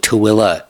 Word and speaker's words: Tooele: It's spelled Thule, but she calls it Tooele, although there's no A at the end.